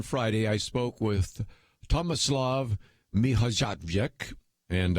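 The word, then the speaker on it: Mihaljevic: And he said on Friday, I spoke with Tomislav Mihajlovic, and I probably butchered the name, but Mihajlovic, I think, is how he says the name.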